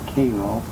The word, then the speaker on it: Cairo: Everyone else would pronounce it Cairo, but anyone from that part of Illinois, it was always Cairo.